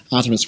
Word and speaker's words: Artemios: in all the rehearsals he kept saying my name wrong but now he got it right finally I've got it there Artemis welcome to ypf thank you very much thank